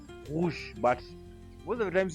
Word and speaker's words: rouge: We pronounce it with the throat, rouge.